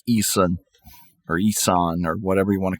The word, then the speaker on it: Ihsahn: I want to go through Emperor because I really like Isan or whatever you want to call him. Isane. but it's spelled IHSAHN.